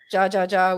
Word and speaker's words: jaja: something right now yeah that whole ja jaja which is hahaha because it's hota so it's pronounced as an h i gotta tell you